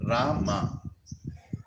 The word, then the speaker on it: Rama: Ram, no, Rama. Hare Ram, नहीं, Hare Rama, Rama.